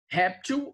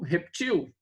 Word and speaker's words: réptil: Olha só, existem palavras que admitem dupla pronúncia, né? Por exemplo, xerox ou xerox, né? Acróbata ou acrobata. Zangão ou zangão. Réptil ou reptil.